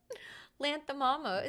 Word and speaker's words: Lanthimos: Yorgos Lanthimos. Lanthimos. No, it's can someone give us the phonetic pronunciation? I just did it. Lanthimos.